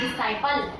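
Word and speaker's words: disciple: डी आई एस सी आई पी एल ई डिसाइपल। अब देखो इसमें भी एस के तुरंत बाद हमारा सी आया तो हमने सी का उच्चारण यहां पर नहीं किया। क्यों नहीं किया? सी को हमने साइलेंट कर दिया क्योंकि एस के तुरंत बाद सी आ रहा है।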